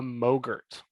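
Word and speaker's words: mogrt: what is called a mogurt it's spelled m-o-g-r-t it rhymes with yogurt and it stands for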